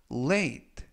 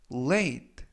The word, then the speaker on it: late: 이번 표현은 late, late, late 라고 발음하시면 되겠고요.